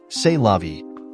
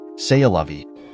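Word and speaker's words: c'est la vie: her friends oh well say lovei I think it's pronounced say a lovei okay then such is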